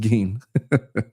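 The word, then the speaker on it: Gein: Pronounced G. I said gain, didn't I? It is pronounced gain.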